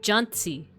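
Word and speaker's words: Jancsi: It's a tse sound, so Johnsy. Johnsy.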